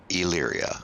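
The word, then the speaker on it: Elyria: i've never tried uh leary ohio okay so the e is basically not there basically leery illyria oh illyria okay i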